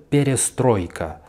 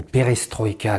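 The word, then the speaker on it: перестройка: Une montée du banditisme, période perestroïka, ou perestroïka comme vous dites en français, ça m'énerve cette espèce de tendance de toujours mettre l'accent sur la dernière syllabe dans tous les mots étrangers.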